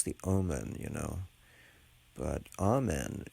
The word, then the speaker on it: amen: it and call it omen oh what's the omen you know but amen is the correct pronunciation and conveys the correct meaning anywho um meanwhile we